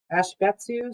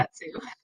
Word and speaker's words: Ashibetsu: I can't, Ashbetsu Student Exchange, Laura Lee. Get Laura Lee to pronounce it. I know. Ashibetsu. I said Ashbetsu there.